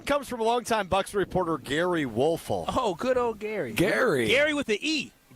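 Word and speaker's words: Gery: Wait, Jerry or Gary? Now I'm confused. Gary Wolfel. On Twitter at Gary Wolfel. Gary with an E.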